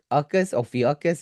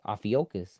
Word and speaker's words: Ophiuchus: Let's see if they could pronounce it for me. Let me see. Well, it's Ophiuchus.